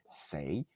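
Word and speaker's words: 四: la culture chinoise, le le nombre 4 c'est se dit se et c'est c'est la même prononciation avec une tonalité différente pour dire le mot mort.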